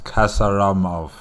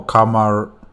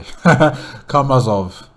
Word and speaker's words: Karmazov: Kasaramov, right? That's how you pronounce his name, right? No, Karmazov. Yes, sorry. Karmazov.